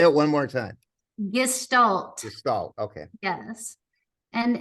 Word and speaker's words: Gestalt: just stal and specifically equin just am I pronouncing it right Galt and explain to us what is gal therapy